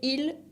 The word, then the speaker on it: ils: Y para decir ellos y ellas, se dice il et elle, con S finales que no se pronuncian.